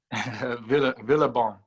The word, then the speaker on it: Villebon: How do you pronounce it? Villebon.